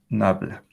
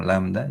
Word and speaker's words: nabla: Ese triangulito se lee como nabla. Siempre pensé que se leía como lambda, yo me equivocaba antes, pero es nabla.